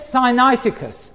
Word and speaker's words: Sinaiticus: It's called the Codex Sinaiticus, S I N A I T I C U S or Codex Aleph as they call it.